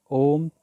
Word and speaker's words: ॐ: चक्र पर होता है इसलिए जो भी आ उ और म से ॐ का उच्चारण करते हैं वह गलत करते हैं तो फिर आप पूछेंगे कि ॐ का सही उच्चारण क्या है मैं आपको बताना चाहता हूं कि ॐ के उच्चारण का मूल अक्षर है जी हां आपने सही सुना सिर्फ आ है और अगर आप और को सही तरह से उच्चारण करेंगे तो यही ॐ की ध्वनि बन जाएगी में सर्वप्रथम आप सांस